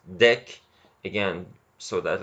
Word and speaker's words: deque: the DQ operation and it's pronounced deck again so that like